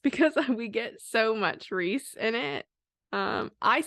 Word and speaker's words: Rhys: I say Rhys. Take it how you want to. I don't care, but that's how I say it.